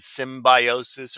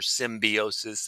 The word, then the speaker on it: symbiosis: We're going to go over the levels of organization and symbiosis or symbiosis. They pronounce it both ways.